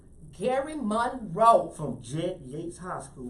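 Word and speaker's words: Gerry Monroe: And our guest today is, how you pronounce it, GERRY or Gary? Gary MOONRE. Gary Monroe.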